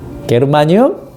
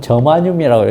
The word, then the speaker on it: 저마늄: 게르마늄? 요즘은 저마늄이라고 읽어요.